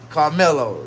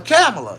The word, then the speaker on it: Kamala: even the Democrat supporters can't even pronounce it pronounce her name right her mama name a camela camela but he said he going to